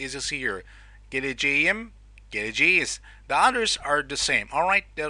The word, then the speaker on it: geleceğim: But the correct one, as you see, look, K letter turns into soft G in positive form with subject pronoun of I. Okay, so ben geleceğim is the right one.